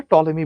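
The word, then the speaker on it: Ptolemy: করে ঘুরতেছিল এই কথাটা টলেমি বলে গেছে। টলেমির বানানটা পি দিয়ে শুরু। বাট উচ্চারণটা হচ্ছে টলেমি।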